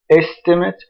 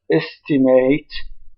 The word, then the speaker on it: estimate: So the noun estimate is stressed on the first syllable. The verb estimate is stressed on the second syllable.